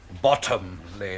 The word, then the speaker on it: Bottomley: Bottomley, if you don't mind. Oh, pardon, Monsieur. Accent on the bottom.